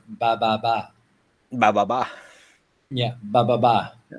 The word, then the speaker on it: ba ba ba: Vietnamese, it's actually pronounced ba ba ba.